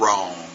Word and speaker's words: wrong: WR sound and basically when you see a w and R all you hear is the r like a wrong and here it is